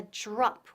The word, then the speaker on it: drop: Now pronunciación, la DR, drop. Drop. Suena un poco como la J inglesa, como Jennifer, Jennifer y con R. Drop, drop. No es drop, drop no.